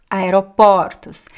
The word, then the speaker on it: aeroportos: Porto aeroporto aeropartus aeropartus so the first one is closed and the second one is open aeropartus aeroportos same thing happens with